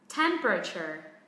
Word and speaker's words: temperature: Đây, trọng âm rơi âm tiết thứ nhất nhưng nó có 3-4 âm tiết này. Temper. Đây là theo Anh Mỹ thì đằng sau nó có âm er rất là nặng.